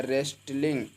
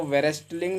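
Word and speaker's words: wrestling: यहां पे लिखा है रेसलिंग क्या लिखा है रेस्ट लिंग इसको वेसलिंग नहीं पढ़ने हैं बल्कि रेसलिंग ही पढ़ने हैं रेस्टिंग मेंस होता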